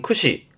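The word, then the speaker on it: 駆使: 발음은 쿠시 쿠시 뜻은 뭘까요? 앞에는 뭘 굳자고 뒤에는 사용하는 거잖아요. 그래서 말을 몰면서 사용하는게 능숙하다. 그 능숙하게 다루는 거를 구사한단 말을 하죠. 뭐 언어를 구사한다라든가 그렇죠. 고르테스는 구사예요. 발음은 쿠시 쿠시 요건 뭘까요?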